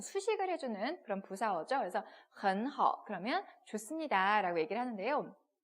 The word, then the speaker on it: 很: 근데 그 중에 하나가 일본인은 헌 같은 경우를 발음을 hen 이렇게 읽는 경우가 되게 많았어요. 에 발음으로. 그래서 hen how 이래서 선생님한테 되게 많이 혼나고 막 이랬거든요. 여러분께서는 틀리지 마시고 어떻게 읽는다고요? en 어떻게 읽어요? 그래서 삼성 들어왔으니까 헌이라고 읽어주시면 되겠습니다.